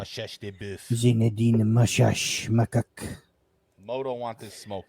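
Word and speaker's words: Machach: It's Makak based on the laws of Italian language. In French, it might be Mashash. Mashash. Or in wherever he's from. Yeah. Mashash de Boeuf. Zinedine Mashash Makak.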